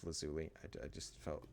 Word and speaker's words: lazuli: Well, we have two ender pearls and 36 lapis lazor. I know it's lazuli.